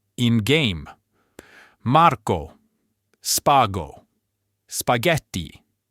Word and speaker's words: spaghetti: Marco, spago, spaghetti. Note the H in spaghetti is there only to keep the hard G sound.